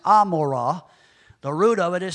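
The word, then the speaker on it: עמרה: the word gamorra strongs number 617 it's actually pronounced Amora the root of it is seen in 616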